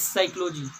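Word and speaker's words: psychology: कोई silent letter होता है लेकिन हम क्या बोलते हैं, जैसे साइकोलॉजी, तो दोस्तों लिखा जाता है पी से लेकिन पढ़ा जाता है एस, साइकोलॉजी।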